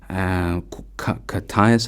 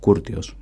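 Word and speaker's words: Κούρτιος: I have no idea how to say it in English, so I'm just going to say it in Greek. Katias, I've heard some people say it, but it just sounds weird.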